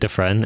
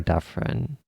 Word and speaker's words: Defren: So is it Defren? Is that the official pronunciation? Yeah, with a D, the friend. Defren? Is it because I was never sure if it was Defren or Daffren. Duh, Yeah, a Defren.